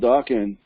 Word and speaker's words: Dokken: a guy called Don Dokken who was in a group called ducking rhymes with rockin that remember doc and